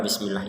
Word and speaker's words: بسم الله: Baik, pada lafal bismillah ini ada huruf sin yang harus kita baca sebagai huruf sin. Jangan sampai terbacanya shin atau sod. Karena huruf sin ini kalau di bahasa Indonesia itu seperti huruf S gitu ya. Huruf asli S gitu. Bismillah seperti itu.